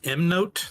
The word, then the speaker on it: MK Note: And if we say no, So it's actually pronounced M note, the K is silent.